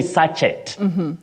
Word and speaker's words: sachet: You don't say sachet. Get me, omo, sachet. No. You say sachet. Sachet. The T is silent.